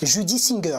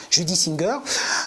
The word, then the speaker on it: Judy Singer: à chaque fois, je me cours sur la prononciation, donc je vais arrêter. Judy Singer. Voilà, Judy Singer euh qui est euh donc euh voilà je